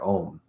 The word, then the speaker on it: Om: So there's something very special about the AU and the M syllables in the word Om.